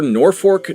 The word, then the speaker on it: Norfolk: Iowa and heading for Norfork, Nebraska, which is how they pronounce it in Nebraska.